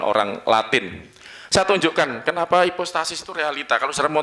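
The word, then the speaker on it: ὑπόστασις: ya hipostasis hipostasis sebnya Jadi gini Yunani itu cara bacanya ada dua Sebetulnya yang yunani-yunani yang saya ikut ya Yunani yang dikembangkan Barat itu agak berbeda jadi cara bacanya bacanya hipostasis gitu ya Hip hipostasis gitu tulisannya gini saudara sedikit-sedikit anu ya dikit-dikitlah sambil biar rileks ya ini epsilon u ini bacanya ada ininya saudaraku jadi ini jadi H nanti terjemahannya jadi ada h-nya gini hembus ya ini transliterasi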